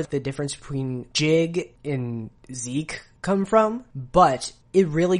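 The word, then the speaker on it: Sieg: be jig or zeke so zeke is the german word for victory and the thing is the reason why it could be either is because japanese does not allow for the syllable z it has zi and it has zap but it doesn't have z at all just like it doesn't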